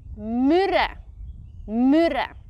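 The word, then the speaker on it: Mürren: one is might be a bit tricky to pronounce for you say it yeah not bad I would say mura it's a very popular ski resort town in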